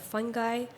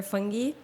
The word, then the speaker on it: fungi: It's an honor to be here at the Dubai Future Foundation and to present the future of fungi, or fungi, whichever way you want to pronounce it. I personally prefer fungi.